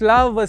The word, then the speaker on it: LAVAWS: My name is LAVAWS, pronounced Love, yaseLole.